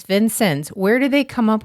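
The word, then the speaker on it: Vincennes: you Google it you will get four different pronunciations so we went to the source to the people and they said Vincent so you're going to have to take it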